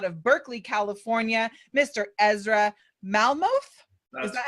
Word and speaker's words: Malmuth: Ezra Malmuth.